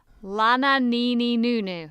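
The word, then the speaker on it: Lananeeneenoonoo: on Red Nose Day and it featured um Lanin God I never know how to say this Lana Nini Noo-Noo that's it which was a spoof band of Dawn French Jennifer Saunders and Kathy Burke.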